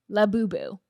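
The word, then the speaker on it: Labubu: It's spelled L A B Ubu. Lab Boooo.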